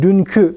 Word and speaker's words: dünkü: de ses uyumuna göre bu ki ekinin bazen qü şeklinde olduğunu da ve telaffuz edildiğini de söylemeden geçmeyelim mesela seninki evdeki diyoruz ama dünkü dediğimiz zaman bakınız orada yine aynı şekilde yazıyoruz kef ve y okutucusu la fakat okurken ü sesiyle okuyoruz arkadaşlar yazımda yalnız imlada